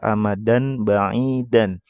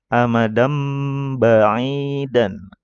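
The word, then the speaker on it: أَمَدًا بَعِيدًا: Nah, kalau kita nggak tahu ilmunya, pasti bacanya seperti itu ya, amadan ba'idan. Nah, ini harusnya dibaca amadam ba'idan.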